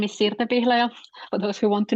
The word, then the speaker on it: Sirte Pihlaja: So my name is Sirte Pihlaja, for those who want to know how to pronounce it.